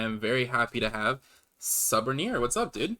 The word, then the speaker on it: Suborneer: Just Suborneer.